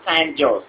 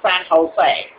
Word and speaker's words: San Jose: that for you that's s a n j o s e all right so s a n j o s e okay San Jose it's not San joose it's San Jose okay so let me